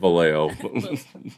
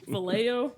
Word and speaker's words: Vallejo: Vallejo. Vallejo? Yeah, Vallejo, Okay, that's how you say it.